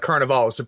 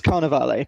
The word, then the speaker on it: Carnevale: they wanted to do I've been calling it Carnival is it should be should it be Carnaval um I mean don't let me tell you how to say Italian words you know better than I do we we've been told it's Carnaval but carnal okay well